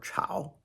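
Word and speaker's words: 炒: Chao or Chao rhymes with shao.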